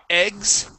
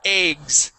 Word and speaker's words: eggs: So, there are some people that say eggs, and they pronounce that with a short E sound. In my family, we say eggs, okay?